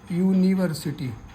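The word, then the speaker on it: university: कि ये वोवेल है या कॉन्सोनेंट, आप इसका उच्चारण देखोगे। यूनिवर्सिटी, city.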